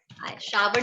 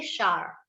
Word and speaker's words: shower: शावर नहीं बोलते, शार. जैसे ब्रेकफास्ट को ब्रेकफास्ट बोलते हैं, शावर नहीं शार बोलते हैं.